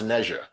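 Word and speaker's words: Ne Zha: had neja or nazar i believe it's called pronounced naija which was the biggest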